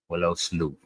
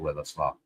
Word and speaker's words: Willow Sleuth: Willow Sleuth is how you say it. I've been saying it wrong. I said Willow Sloth. But it's Willow Sleuth, I believe.